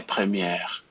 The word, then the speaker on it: première: And you have that accent, it's called the accent grave, and we have it there because the pronunciation of E changes. Premier, première, right? It just goes low.